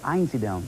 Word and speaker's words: Einsiedeln: Einsiedeln, right.